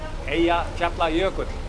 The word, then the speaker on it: Eyjafjallajökull: Eyjafjallajökull is a glacier.